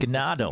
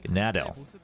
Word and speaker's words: Gnado: Well, no, in Korean it's pronounced Gnado. In Korean, they're reading it as Gnado.